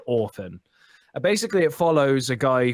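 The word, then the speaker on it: Orphen: could orphan or or it's pronounced orphan but it's spelled or fen and it's basically in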